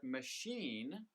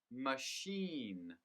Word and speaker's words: machine: first syllable listen london with the word machine the stress is on the second syllable machine machine and when you learn